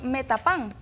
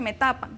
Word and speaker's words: Metapán: un significado así es también tenemos metapán idioma no se pronuncia me tapa se escribe así no siendo y luego